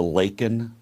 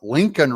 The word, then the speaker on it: Laken: says her name and he calls her Lincoln Riley instead of Laken Riley I'd be a winner